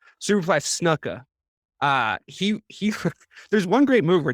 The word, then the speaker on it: Snuka: And he is picking up Jimmy Duca.